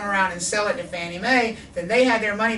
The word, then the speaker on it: Fannie Mae: The Federal National Mortgage Association, FNMA, that's why we call it Fannie Mae. Fannie Mae is just a cutesy abbreviation, or a cutesy way of pronouncing the abbreviation, FNMA, the Federal National Mortgage Association.